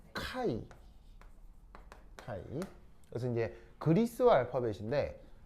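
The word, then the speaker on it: χ: 그래서 이제 발음은 그 카이 카이 그래서 이제 그리스와 알파벳인데 이제 왜 영어 알파벳에 요렇게 쓰는 건 x잖아요. X고 그 그리스 알파벳에 요렇게 쓰는 녀석이 있는데 얘는 발음이 카이입니다.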